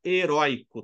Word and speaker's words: herói: não é uma paroxítona herói é uma oxítona ele tem tonicidade na última sílaba heroi entendeu então como